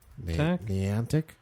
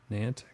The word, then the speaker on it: Niantic: actually uh what is it n how youed pronounce this I think it's n Niantic Niantic let me see Pokemon Pokemon Creators they wrote